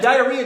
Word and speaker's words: diarrhea: think is um and diarrhea didn't have four syllables only three i had the diary